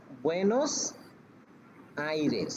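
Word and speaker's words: Buenos Aires: তারপরে হচ্ছে বুয়েনোস আইরেস, erase আইরেস আইরেস, বুয়েনোস বুয়েনোস আইরেস আইরে, আইরেস মানে কি? আইরেস মানে হচ্ছে বাতাস, এয়ার। বাতাস বুয়েনোস এয়ার্স হুম। এখন বুয়েনোস বুয়েনোস আইরেস, বুয়েনোস মানে কি?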